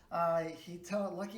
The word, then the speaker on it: Lukey: Lucky is a painter, and Lucky, it's spelled Lukey. So Lukey is a painter, and